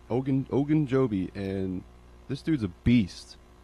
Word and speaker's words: Ogunjobi: Larry Ogunjobi. I'm surprised you pronounced that right. Ogunjobi, and this dude's a beast.